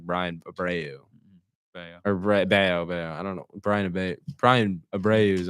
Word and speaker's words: Bello: Bayo. I don't know. Brian Abreu's on the Astros. I used to call him Brian Bello. Because that's how it's spelled. But anyways, Bayo.